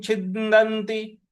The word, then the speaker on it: छिन्दन्ति: तो नैनं छिन्दन्ति, छिन्दन्ति। छी, छ पर छोटी की मात्रा है छी, आधा न पर हमको आघात देना है।